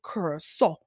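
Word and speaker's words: Curaçao: I thought about that while I was out in Curacao. That's how the locals pronounce it, Curacao.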